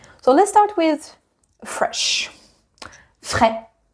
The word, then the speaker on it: frais: Frais. There is an S at the end and it does not make fraise because that would be a strawberry.